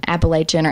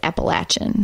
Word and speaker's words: Appalachian: go let's say Apalachin Appalachia nor Appalachia but yeah but generally everyone in the area that we live in says Appalachian Appalachian okay I'm just like